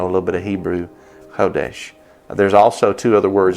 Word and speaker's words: chodesh: the hebrew word is hodesh we spell it in english s c-h-o-d-e-s-h but the c at the front is kind of silent so if you want